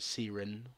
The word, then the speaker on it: Seren: I don't know how Jaggers pronounce it. The devs they call it like Siren or whatever. I'm gonna call it Seren for now.